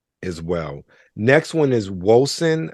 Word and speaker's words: Wolcen: Next one is Wolcen, I believe is how it's said. I want to say Woken, but it's a C and then that's there.